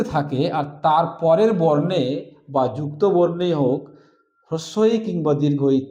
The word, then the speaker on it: ব্যক্তি: এখানে বয় জফলা কয়তযুক্ত ব্যক্ত, উচ্চারণ করি ব্যক্ত।